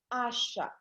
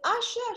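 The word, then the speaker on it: Aisha: This other person, her name is Asha. Her name is spelled A-I-S-H-A.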